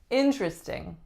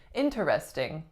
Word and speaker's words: interesting: we have the word interesting this one is really really important because it is rare to hear people saying interesting interesting instead we take out